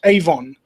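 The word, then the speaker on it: עוון: Um, basically there's a there's a word in Hebrew um pronounced Avon in English like like Avon like the makeup company.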